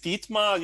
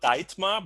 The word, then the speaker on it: Dietmar: so my name is dietmar you should write it with ee in in india it's not diet mark it's a long a long e in german language so i'm a german